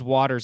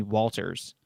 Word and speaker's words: Waters: can't do it um my last name is waters and for some reason every grade my teachers would call me walters yeah that's interesting i